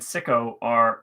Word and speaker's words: Sicko: What director has credits that include Roger and Me and Psycho, but pronounced Sicko?